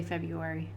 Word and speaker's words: February: february 14th and yes i could say february it's funny listening to people trying to pronounce the extra letters fred fred fred murray you're like no but they're like it's got an extra r stop trying okay this